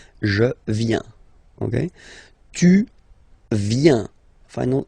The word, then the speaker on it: viens: First form, je viens. Final S not pronounced. Je viens. Remember, I-E-N, ien. Je viens.